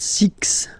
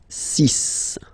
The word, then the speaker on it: six: Then be careful here because even if it's ending with this X, well, you'll have to pronounce it like S. Okay? So you get the cis pronunciation. CIS sis. Okay? So it's not six, it's sis.